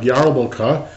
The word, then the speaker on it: Yarmulke: This is the easiest kind, just called a Kippah or Yarmulkah, spelled with an R, like Yarmulkah.